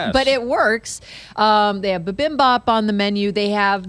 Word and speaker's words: bibimbap: They have bibimbap on the menu. They have this, I want to order that just to say that. I know. What, bibimbap?